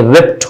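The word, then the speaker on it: ripped: हम नहीं जानते हैं हम रिबड प देते हैं पर ये रिप्ट होता है तो कुछ ही वर्ड्स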